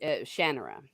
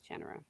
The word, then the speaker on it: Shannara: And before I forget, It's pronounced, I believe, Shannara. Shannara.